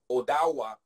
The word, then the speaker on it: Ottawa: community in in Inc in Ottawa and Odawa was a way that the pronounce it as well so really kind of